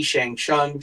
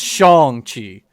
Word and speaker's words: Shang-Chi: Am looking forward to Guardians 3, Spider-Man, Shang-Chi, Shang-Chung, Shang-Chung. Found out I found out it's pronounced Shang-Chi. That the actor himself said it.